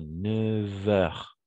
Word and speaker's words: neuf heures: une particularité de leur le numéro 9 c'est que on va prononcer comment V d'accord on fait avec une sorte de liaison 9 heures 9 heures ok oui mais on écrit 9 mais on va prononcer 9 donc la seule est le seul remarque voilà 9h comme V ok à partir de